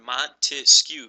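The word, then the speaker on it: Montesquieu: separation of power so I always remember montis skew three syllables remember those three branches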